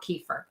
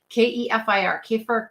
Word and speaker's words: kefir: And what I mean by that is plain organic, unsweetened yogurt or kefir. Okay. Kefir, kefir, however you want to pronounce it.